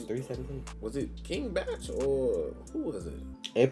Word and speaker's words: King Bach: I still don't understand why his name King Batch. Like before I knew who he was, I used to call him King Bach because his name is spelled like Bach, like the composer.